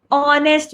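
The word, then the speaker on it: honest: एनस्ट मैन यूज तो एच यहां पे साइलेंट है। हम ओ से स्टार्ट कर रहे हैं। ऑनेस्ट मैन इट्स नॉट ऑनेस्ट।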